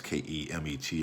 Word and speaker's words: Kemet: comes out as kmt there were no uh vowels vowels uh folks should do that type of work insert vowel so we can pronounce it so it's oftentimes pronounced as k spelled as k-e-m-e-t or k-a-m-i-t you know